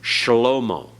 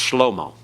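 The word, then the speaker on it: שְׁלֹמֹה: vocalized in Biblical Hebrew shalomo shalomo but in modern Hebrew it's just slo-mo they don't give that vocal sound at all all right uh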